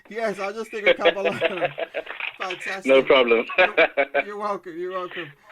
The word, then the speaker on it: Kabalano: Can I pronounce it properly? Kabalano.